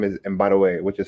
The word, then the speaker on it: Mbadiwe: And my last name is Mbadiwe, which is spelled M for Mary, B for boy, A for apple, D for David, IWE, Mbadiwe.